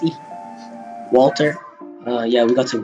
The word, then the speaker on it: Edie: And Eddie Finch. Who was Eddie? Oh, we didn't get to Eddie, the girl. Edie, it's Edie. It's pronounced Edie.